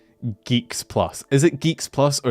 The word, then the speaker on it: GX Plus: Is Geeks Plus? Okay, why did these have an X? Fucking Zoomers, man. It can't be Geeks Plus.